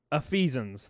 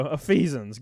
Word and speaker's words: Ephesians: pronounce pro pronouns okay it's uh ephesians there we go of feasons god i couldn't pronounce that word i'm gonna i'm dumb